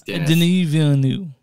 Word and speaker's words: Denis Villeneuve: I know it's Denis Villeneuve.